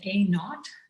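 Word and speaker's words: a₀: with a subscript zero we read it as a naught we pronounce this we could call it a naught and not for zero so it's an a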